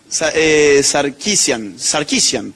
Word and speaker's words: Sarkeesian: ¿Alguien sabe cómo se pronuncia bien? Sarkeesian.